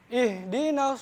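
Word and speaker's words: اهْدِنَا: Nah, masih banyak yang salah juga di H. Orang Indonesia tuh masih banyak salah bedanya antara H besar dan H kecil. Ini pakainya H besar. Ihdinas siratal mustaqim. Ihdinas siratal mustaqim. Keluarnya H besar dari tenggorokan bagian bawah.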